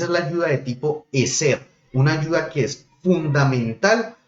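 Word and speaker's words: עזר: La palabra que se utilizó allí por ayuda es la palabra hebrea eser.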